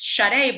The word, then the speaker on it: Shadé: a difficult name like my name is shut a but it's felt like shape so it's spelt wrong